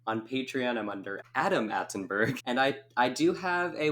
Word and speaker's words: Atenburgh: With one T, right? One T and then Burgh, just because I wanted to be extra fancy and throw in a lot of silent letters.